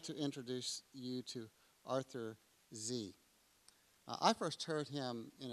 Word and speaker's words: Sze: and it was but in the united states um they've learned to say z so i'm glad to introduce you to arthur z i first heard him